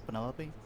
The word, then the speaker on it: Penelope: is that short for Penelope officially yes but I never can be bothered with all four syllables at it Penelope sounds